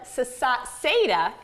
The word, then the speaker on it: Saseda: introduce to you Bud Saseda. He told me it rhymes with potato, so I want to make sure I get it right.